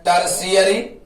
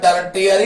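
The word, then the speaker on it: tertiary: हम लोग कहते हैं टर्शियरी। लिखते हैं टर्टियरी, पढ़ते हैं टर्शियरी।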